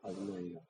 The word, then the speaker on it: 아도나이: 그러니까 요즘 히브리어 이렇게 배우는 사람들 가운데 어설프게 배워가지고 그 단어가 나오면 야훼 이렇게 읽는 경우 있는데 그거 잘못된 거예요. 물론 우리가 야훼라고 보기도 하지만 전통적인 입장에선 히브리 원문을 읽을 때 야훼에 해당되는 단어가 나올 때는 아도나이라고 바꿔서 읽어요. 네. 야훼라고 읽지 않아요. 아도나이요.